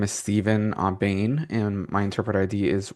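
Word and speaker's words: Aubain: My name is Steven Aane and my interpreter ID is YM288. My last name is spelled A Wait a minute.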